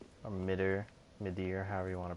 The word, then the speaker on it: Midir: And we ended up fighting Dark Eater Midir, or Midir, however you want to pronounce his name. I say Midir, my dear, Midir.